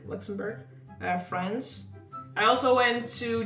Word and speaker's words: Luxembourg: Greece, Italy, Germany, Belgium, Luxembourg? How do you say it? Luxembourg. Luxembourg.